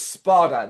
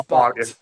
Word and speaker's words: Sparta: Yeah, you can easily mispronounce it, but it is Sparta, not Yeah, Spot. yeah, D spy, yeah. instead of A, Sparta, the Demon Lord.